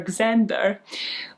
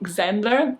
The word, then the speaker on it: Xander: He welcomes them, takes the coats off, and this is when his younger brother, Xander, I've never actually pronounced that out loud, Xander, like the short version of Alexander, you know, because rich people don't shorten Alexander to Alex.